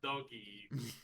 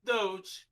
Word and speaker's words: Doge: working dodge coins not doggy doge i've never i've never heard it pronounced before sorry okay okay there are there are two simple rules in this life you pronounce it doge you don't put pineapple